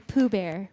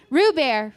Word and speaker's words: Roo Bear: His dog's name is Pooh Bear, right? Roo Bear. I said it wrong. Roo Bear. Roo Bear, not Pooh Bear.